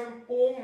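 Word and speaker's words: poem: इसका actual pronunciation पोम होता है, लेकिन हम लोग बचपन से पोएम ही बोलते रहे हैं, तो पोएम ही कहते हैं।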